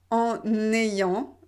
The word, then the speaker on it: en ayant: ayant en ayant hélas vous devez bien faire la liaison en ayant autrement si vous ne faites pas la liaison c'est trop difficile à prononcer en ayant non c'est pas joli donc on doit vraiment faire une connexion entre les voyelles avec la console en